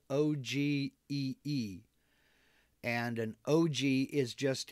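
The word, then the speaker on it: ogee: So Let's see, IL Peleg, what is an OG bit? Okay, it's spelled O-G-E-E.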